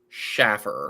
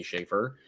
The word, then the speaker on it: Schaefer: that pronounced my name Schaffer, bananas, I would be a millionaire because everybody after 1980 says it Schaffer, and I always have to correct them. I have to say Schaefer.